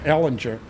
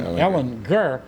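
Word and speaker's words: Ehlinger: to play texas and i was calling him sam ellinger and of course he called he pronounced his name ellen gurr well the same thing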